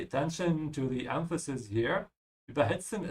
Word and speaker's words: überhitzen: Überhitzen is not a separable verb. This is why I'm emphasizing the second part, überhitzen.